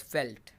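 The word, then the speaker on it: veld: came to settle here it means field and is pronounced as felt in australia the grasslands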